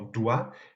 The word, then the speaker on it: doigt: éliminé, mais par contre, dans doigt, le G, qui n'est pas prononcé, est conservé.